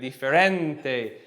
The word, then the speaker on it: diferente: You're always rising up on the penultimate syllable, the before last syllable, and then you're landing gently on the ending, right?